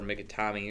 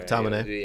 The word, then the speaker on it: McTominay: And, Mikitomi might be able to, or Mikitami or whatever. McTominay. Yeah, there you go. I always say that name wrong.